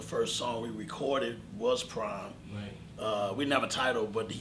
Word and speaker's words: PRhyme: and once he said I want to call it prime but spell it PRI a PR hy and me but make the letter P and the letter R capital so that P and